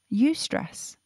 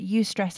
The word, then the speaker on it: eustress: ever good for us and she said yes you stress i hadn't heard of you stress eustress is spelt e-u-s-t-r-e-s-s and it means beneficial stress from